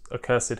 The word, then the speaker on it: accursed: series by maurice geron because accursed has three syllables apparently made up of